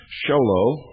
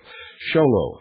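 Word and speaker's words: Show Low: to the Intelligence Service, Post Office Box 1420, Sholo, that's spelled S-H-O-W-L-O-W, Arizona, 85901. That's P.O. Box 1420, Sholo, Arizona, 85901.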